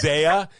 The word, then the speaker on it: Xeah: My artist name is Xeah, but it's spelled with an X. So it's Xeah.